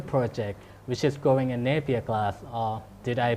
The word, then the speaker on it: Nepia: So basically, I heard that you start a new project which is growing in Nepia grass. Or did I pronounce it correctly? Nepia?